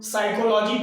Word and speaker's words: psychology: वो साइलेंट है तो इसका मतलब कि उसका उच्चारण नहीं होगा, होगा मगर मुख के अंदर होगा।